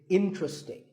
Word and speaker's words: interesting: sometimes as interesting but there are only three syllables in truck sting and the stress is on in so the word is interesting number 12 is hotel